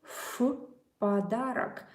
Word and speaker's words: в подарок: By the way, about the Russian pronunciation, this V you pronounce as F, F, F, F. Сказки в подарок.